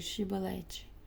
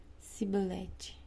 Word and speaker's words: Shibolete: Se o homem negasse, eles o mandavam dizer Shibolete. Se ele era de Efraim, dizia Sibolete, pois o povo de Efraim não consegue pronunciar essa palavra corretamente.